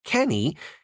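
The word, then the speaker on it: canae: C a n a e is pronounced like cany and it means cannot.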